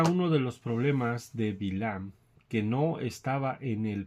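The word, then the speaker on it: בלעם: El nombre hebreo de Bilam se escribe con las letras Bet, Lamed, Hayim y Mem. Como el texto original no tiene vocales, es posible entender su nombre, ¿verdad? También como Bill Am.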